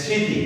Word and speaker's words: স্মৃতি: তো এখানে কি আছে যে স্মৃতি, যেহেতু ম ফলা উচ্চারণ হয়নি তাহলে কি হচ্ছে? চন্দ্রবিন্দু ব্যবহার হয়েছে।